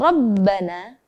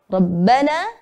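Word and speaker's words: ربنا: Contohnya adalah pada kata Rabbana dan basiran. Maka ro-nya dibaca tebal. Di fathah dan di fathah tanwin. Ra, ran. Rabbana basiran.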